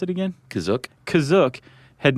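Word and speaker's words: Kashyyyk: or Wookie Planet C is that how you say it kazuk that's how it's pronounced in the episode the holiday special but it's also pronounced different ways other times I would have pronounced that cashier go spell it k-a-s-h-y-y-y-k yeah which I mean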